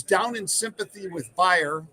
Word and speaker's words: Bayer: It's down in sympathy with Bayer, or Bayer, as people pronounce it, Bayer aspirin. It's Bayer if you're German.